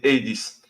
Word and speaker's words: Hades: it's Hades.